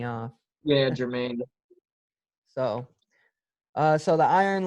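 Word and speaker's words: Germaine: the iron lady uh jermaine i'm not saying that right germain yeah it's just spelled with the g and it's throwing me off yeah jermaine so uh so the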